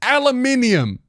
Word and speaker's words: aluminium: not for me for you also it's pronounced aluminium what are we doing here take a good